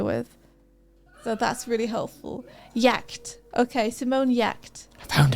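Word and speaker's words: Giertz: Her name is pronounced Yacht. Thank you, Caustic Armadillo. Appreciated. I'm not good at reading names I'm unfamiliar with. So that's really helpful. Yacht.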